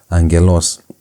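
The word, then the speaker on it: ἄγγελος: next to each other, the first gamma is not going to be pronounced as gamma as G sound but as N sound. So you have angelos and angelos means an angel.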